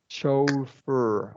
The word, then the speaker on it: chauffeur: We're going to do Chauffeur. a long O here. Show. And Okay. then, Not like August. no, long O. And then a Okay. schwa R after the F. Chauffeur. Chauffeur.